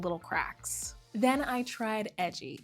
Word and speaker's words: Edjy: Then I tried Edgy, spelled EDJY, pronounced like edgy, and it's totally different.